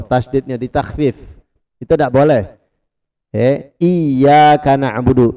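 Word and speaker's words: إِيَّاكَ: Iyyaka na'budu. Perhatikan di huruf iya itu ada tasdid. Iyyaka na'budu. Jadi jangan dibaca iya, bukan iya. Kalau kita bacanya iya berarti kita menghilangkan tasdid.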